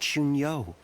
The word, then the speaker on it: Xun Yu: Lord Xun Yu. The meeting is about to begin. Oh, he said it right. He said Xun Yu.